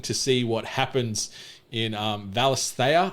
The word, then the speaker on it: Valisthea: see what happens in Valisthea, I think is how you pronounce the world this game is set in. It's okay.